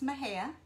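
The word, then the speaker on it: Mexia: small town um called mahea it's actually spelled m-e-x-i-a but it's pronounced my hair and um i am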